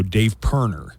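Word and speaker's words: Dave Pirner: it's spelled but I didn't know how to pronounce it so Dave perner is uh I figured that out so Dave perner and Soul Asylum are going to be here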